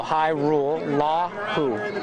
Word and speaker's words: Hajrullahu: you pronounce it hi so the hhj is just high and then rule like you got to follow this rule so high rule law who like who are you